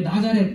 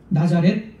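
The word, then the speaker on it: נצרת: 명사인 말 그대로 어 히브리어로 이제 나자렛 뭐 이런 식으로 발음을 합니다 나자렛 이런 식으로 발음을 하는데이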